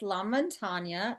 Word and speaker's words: Lamontagna: We'd like to welcome Lamontagna.